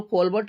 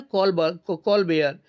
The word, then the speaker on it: Colbert: सामने लिखा हुआ है, इसको कोलबर्ट लिखा जरूर गया है लेकिन इसको पढ़ा जाता है कॉलबेयर, COLBERT, क्योंकि फ्रेंच भाषा में हम टी का उच्चारण नहीं करते हैं, इसीलिए कोलबर्ट की जगह कॉलबेयर इसको पढ़ा जाएगा।